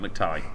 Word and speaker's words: McTighe: Pete McTighe. Ty. G and H should not go together like that.